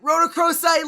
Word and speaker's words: Rhodochrosite: Rhodochrosite, let's go.